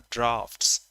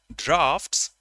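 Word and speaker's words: draughts: hit this this is called darts this is pronounced drafts I repeat this is pronounced drafts d r a u h TS and that's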